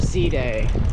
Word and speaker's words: Side: they here we are the old city of sea day looks like it says side in English but it's pronounced C day like pday with an s